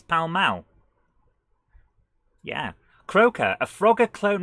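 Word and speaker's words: Pall Mall: al don't mind me so what's pal mal it's not pal mall it's pal mao yeah croaker a frogger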